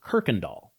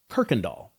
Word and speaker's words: Kirkendall: Another pro tip to make you feel like a local, this street is pronounced Kirkendall. Kirkendall. Nobody knows why.